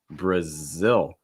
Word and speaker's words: Brazil: to keep in mind our first one here brazil brazil a couple things here let's not see that brush out that schwa bruh bruh like in fun